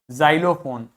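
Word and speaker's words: xylophone: आ गई इसी प्रकार एक्स को आप जड की तरह से प्रोनाउंस करोगे यदि व एक्स किसी भी शब्द के बिगिनिंग में आता है जैसे जाइलम जाइलोफोन जेनोफोबिया जेनोफोबिया मतलब ऐसे लोगों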